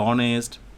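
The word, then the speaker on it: honest: না হয় মনে রাখো যে এইচ এর উচ্চারণটা যখন সাইলেন্ট থাকে আওয়ার এরপরে অনেস্ট রাইট সো সেসব ক্ষেত্রগুলোতে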